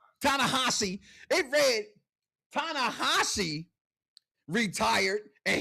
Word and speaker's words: Tanahashi: Tahashi. Did I say his name right? Huh? Tanahashi.